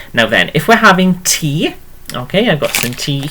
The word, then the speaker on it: te: Okay, now then, if we're having tea, okay, I've got some tea here.